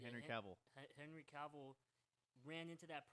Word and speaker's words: Cavill: you're saying uh you're saying it right Henry Cavill Henry Cavill ran into that problem of like